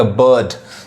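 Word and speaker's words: bird: ब, देखिए यहाँ पे बी आई, ब, बी नहीं, बिल्ड नहीं कहेंगे, बर्ड।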